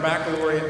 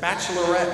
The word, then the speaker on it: baccalaureate: I have to say, I'm glad to be able to speak to you at our baccalaureate mass, or as I have heard some of my fellow classmates pronounce it, bachelorette mass.